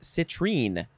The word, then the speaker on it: citrine: Next is, well, it's spelled the same way, but it's pronounced citrine.